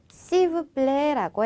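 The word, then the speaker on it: s'il vous plaît: 시브플레라고 해 주시면 됩니다.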